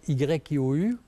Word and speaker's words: Hu: Alors, avec un mantra spirituel qui s'appelle le chant du Hu, ça s'écrit H-U, mais ça se prononce Y-I-O-U.